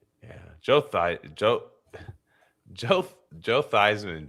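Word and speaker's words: Theismann: Joe Thy Joe Thyman changed his name to sound like Thyman when he was in the Heisman race. So your name his name was Joe Thesman. That's how he used to say his name when he was at not at Notre Dame.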